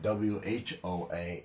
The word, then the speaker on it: whoa: And whoa, more like a O sound, like an oh boy.